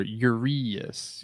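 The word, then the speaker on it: Urías: Just think of 2 R or R 2 E's for Urias, even though it's not how you spell it.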